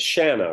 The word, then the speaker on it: Shanna: You pronounce it Shanna, right? Yeah, like banana.